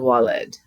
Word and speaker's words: valid: So this would actually be pronounced in Latin wal and walid, but we have W's and V's.